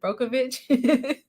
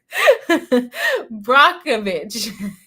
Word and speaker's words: Brockovich: am I calling it brookeovic Brockovich yes I was saying it wrong says there was